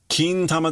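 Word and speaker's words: 金玉: Kintama daro ero ona.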